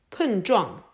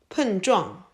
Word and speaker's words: 碰撞: Please follow me to pronounce it. 碰撞碰撞碰撞 Now let's take this word apart to learn more words.